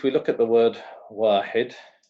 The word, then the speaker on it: واحد: Because if we look at the word واحد, واحد, yeah, we pronounce it dun. Why? Because of two dhammas.